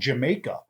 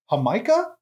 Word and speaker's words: Jamaica: have a soda that I used to think was called Jamaica but it turns out it's called Jamaica and that's just hibiscus